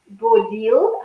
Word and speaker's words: Bodil: So today we have Bodil. Have I pronounced that correct?